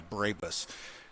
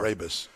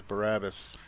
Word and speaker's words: Brabus: Brabus. I've heard of them, but I don't know anything about them. I've always mispronounced it as Barabbas.